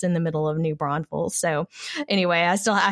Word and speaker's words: New Braunfels: this one right because there is a town called New Braunfels is German but nobody I know pronounces it that way we say New Braunfels and there's no extra s in the middle and that's the title